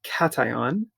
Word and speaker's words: cation: all right a scandium cation so you spell this or pronounce this word like cat and then ion so cation has three